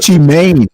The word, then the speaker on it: Gucci Mane: Gucci Mane. Even I know that. Oh, it's Gucci Mane. Like M A I N.